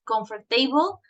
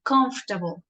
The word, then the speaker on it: comfortable: okay um and also the word comfortable Joanne at the end you said comfort table this is Como we say comfortable okay this is the correct one um well for